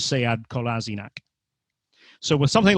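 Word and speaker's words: Sead Kolašinac: the one thing he really hates is when people call him sayad kolasinac so he goes to arsenal and the first thing i see is a little piece on the club website with him saying that his name is seyad kolasinac so with something like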